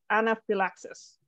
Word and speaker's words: anaphylaxis: right and then now try to like uh put less emphasis on the anus or anaphylaxis yep that's great excellent